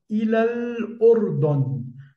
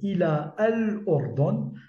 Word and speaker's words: إلى الأردن: cinquième mot, à savoir ilal ordon. Je n'ai pas prononcé ila al ordon, je n'ai pas prononcé le alif, mais j'ai directement prononcé le lam de l'article défini. Ilal ordon.